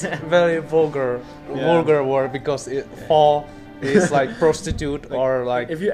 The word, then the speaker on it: phở: Be careful, because of pho, also you have to pronounce it right.